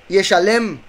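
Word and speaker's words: ישלם: Esta se pronuncia Yeshalem.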